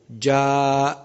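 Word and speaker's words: جاء: as in the word ja, then the recitation of the alif must be prolonged. Ja, لاحظ, pay attention how to pronounce the alif.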